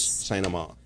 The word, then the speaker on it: St. Amand: Paris St. Amand.